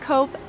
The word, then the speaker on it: Coop: But usually you'll find a Coop and Migros just a few blocks away from